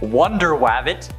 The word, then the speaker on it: Wonder Wabbit: also features superheroes like Wonder Wabbit, that's actually how it's said, Aquaduck, Bat Mouse, and